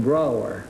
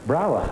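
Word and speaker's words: Brougher: James Whitcomb Brower Brower yes it rhymes with vro wer why do you have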